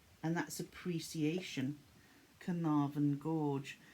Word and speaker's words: Carnarvon: beautiful then we've got canarvan gorge and that's appreciation carnavan gorge that was very easy to pronounce because we have a town in north wales by the name of carnarvon then we have cassowary